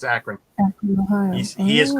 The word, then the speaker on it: Akron: It's like the city. I don't know the city. It's in Okay. It's in Ohio. Oh, Yep, it's Akron.